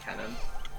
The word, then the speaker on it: canon: It's pronounced canon.